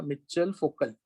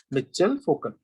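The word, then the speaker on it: Michel Foucault: मिचेल फोकल. क्या नाम है? मिचेल फोकल. ओके, फोकल्ट करके नहीं बोलते, वो जो टी साइलेंट हो जाना चाहिए.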